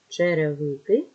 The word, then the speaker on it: черевики: на склади черговий черговий черевики ще превихи четвер вже вверх чайка чайка буква йот завжди залишається в попереднім складом поставимо наголос спонукаємо слово черговий друге слово черевики наголос на третій склад четвер наголос на е